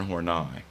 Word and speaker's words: Horney: But I do want to focus on Karen Horney. You can pronounce it Horny because it's more fun to do that, I know. But actually, she pronounced her last name, and her family did, as Horney.